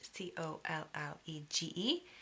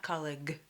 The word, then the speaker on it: college: For example, in the word college, C-O-L-L-E-G-E, the last sound is a J, college, J, not colleague.